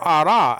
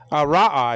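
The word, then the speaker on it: רָאָה: To see, and that's from Ara, actually. Now, this Hebrew word Ara, Ra'a, I should say.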